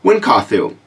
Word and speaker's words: Wynkahthu: it was like, how the F do you pronounce it? But Wynkahthu.